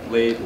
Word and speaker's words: Leyte: in the Battle of is it Leyte Gulf Leyte pronounced ladies lady Gulf which is the largest